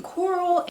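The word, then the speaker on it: Corll: this is about dean coral and you're asking does this guy have the same last name as your first name and i'm telling you it sounds the same but it is not his last name is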